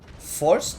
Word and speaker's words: Force: guy I'm telling you, it's called Force, like, may the force be with you. It's spelled the same.